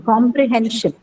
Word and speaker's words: comprehension: Next one, comprehension. Comprehension. Hen. On hen, right? The second last syllable. So because you have shin here.